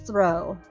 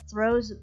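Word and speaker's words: Throh: I think it's throw I think the H is silent at 538 it is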